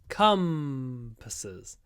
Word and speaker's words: compasses: are used for navigation the stress is on the first syllable and the first syllable is come compasses try to stretch the M compasses compasses compasses are